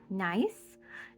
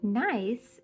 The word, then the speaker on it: gneiss: This is a piece of what they call gneiss. And gneiss is spelled Gneiss, I believe.